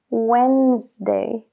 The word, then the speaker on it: Wednesday: Cómo se dice wednesday no la d no se enuncia es wday wday When como de cuando When y luego la añ es la s y d wday wednesday entonces no es wednesday como se escribe es wednesday wednesday I have a meeting